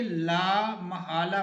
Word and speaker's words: لا محالہ: ناممکن کے معنی میں میم پر زبر ہے، لا محالہ نہیں پڑھیں گے بلکہ کیا پڑھیں گے، لا محالہ پڑھیں گے، لا محالہ۔